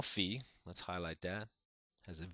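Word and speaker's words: phi: nth power all right that's how you say it fee all right to the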